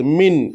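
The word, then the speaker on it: مِن: കിസ്ര തൻവീൻ ആണ് വന്നിട്ടുള്ളത് മിൻ എന്നുള്ളിടത്ത് പക്ഷേ ആ മിൻ എന്നുള്ളത് നമുക്ക് മുഴുവനായി പറയാൻ പാടില്ല അപ്പൊ എങ്ങനെയാണ് ഓതേണ്ടത് ഇഖ്ലാബ് ചെയ്തിട്ട് ഓതണം അതായത് മിൻ എന്നുള്ളത് വേഗം ഇക്ലാബ് ചെയ്യണം ഇക്ലാബ് ചെയ്യുക എന്ന് പറഞ്ഞാൽ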